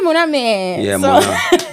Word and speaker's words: Mona: I speak that is yeah people I say my name is Mona and they say mana that's what it is.